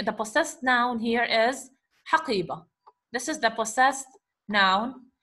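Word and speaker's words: حقيبة: When you pronounce haqiba, you are pronouncing it as ha at the end, okay? Haqiba, haqiba. So you are hearing the ha sound at the end, not the ta sound. Though this is ta marbuta,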